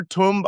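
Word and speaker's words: Tunb: This is Greater Tumb Island, Lesser Tumb Island. You see how it's spelled T-U-N-B?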